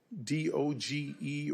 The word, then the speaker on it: DOGE: May I ask you, do you work with any of the members of DOGE or DOGE? How do you pronounce the name of the committee?